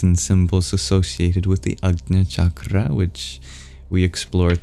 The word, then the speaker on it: Ajna: Difficult to pronounce. A J next to a palatal nasal sound. Ajna.